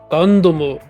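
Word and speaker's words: ガンダム: Gundam is an interesting case because technically Japanese words don't end with the letter M. So they would probably add like an extra U vowel at the end. It'd be like Gandamu.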